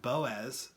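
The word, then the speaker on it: Bowes: It's pronounced Fox, right? Then we have Boaz, B-O-W-E-S.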